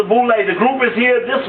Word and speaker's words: Boule: to go to the boulay picnics known as full lay pronounced the group is here these b-o-u-l-e uh known as the boulay the group is here